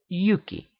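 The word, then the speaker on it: Hjúki: names indicate as much huki in nose would be pronounced Yuki which would readily become Jack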